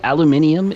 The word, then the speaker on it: aluminium: I do need more technically aluminium is the correct way to say it and it's actually the correct way to spell it but we Americans are special is there no hacking